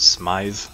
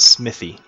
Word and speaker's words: Smythe: priestess some Jackson against Smythe the protruding and no it's not smithy it's a Smyth that's how I choose to pronounce it and that's what I'm sticking with one of a second